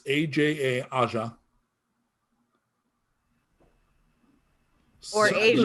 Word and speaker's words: Aja: AJA, like the Steely Dan album. I was just gonna say, which is Asia, but It is exactly like the Steely Dan album, except that it's not pronounced that way. correct. Okay, it's Aja.